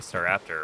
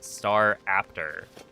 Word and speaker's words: Starraptor: He built a team around Mega Starraptor, right? Super hyped up new mega. And I don't know if he was trolling, but he would pronounce it as star after with like a a noticeable pause between the two.